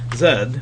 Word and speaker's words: Z: might make but um Zed and it is pronounced Zed because it did come from England is the formal method